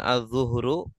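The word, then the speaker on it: الظُّهْر: Ini kalau dibacanya azzuhru artinya zuhur. Waktu salat zuhur ya. Azzuhru. Oh, tapi kalau azzahru unggu ungg ya.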